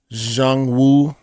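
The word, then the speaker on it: Xuanwu: Jordan one high OG Jang Wu I think that's how it's it's pronounced x u a n w u a Jordan one high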